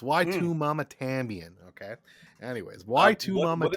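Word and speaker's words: Y tu mamá también: pronouncing this movie uh it's actually why to mama tambien that's what you're supposed to say i'm sorry you're wrong it's why two mama tambien okay anyways why two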